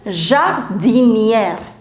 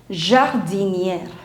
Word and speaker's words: jardinière: So this is jardinier, this is jardinière, air, this is air, and that's why you put accent grave. Jardinier, jardinière, right?